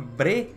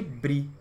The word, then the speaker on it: Bree: da pronúncia ou seja para que os leitores deve tá sem falar breve ao invés de bri bri ficava a leste